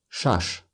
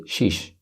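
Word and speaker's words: шаш: I chant punch six shush 6. shush but also people say sheesh especially in the north part of Tajikistan so I get up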